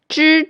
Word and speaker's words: zh: Zh is similar to the sound of DGE in judge.